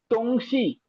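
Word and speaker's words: 东西: தொங்ஷி. So D வரும்போது the sound நம்ம டி மாதிரி ப்ரொனவுன்ஸ் பண்ண மாட்டோம். இங்கிலீஷ்ல வர்ற டி மாதிரி இங்கிலீஷ் மாதிரி ப்ரொனவுன்ஸ் பண்ண மாட்டோம். இங்கிலீஷ்ல வர்ற த சவுண்ட் தொங்ஷி.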